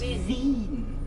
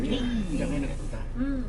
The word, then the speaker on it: Wien: You know how you pronounce Vienna in Austrian? German? It's Wien. Bean. Wien.